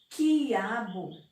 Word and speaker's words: quiabo: Mas quando eu digo quiabo, quiabo, a palavra quiabo, ela não é ditongo. Por quê? Porque eu não pronuncio a vogal U, eu só falo I, ó.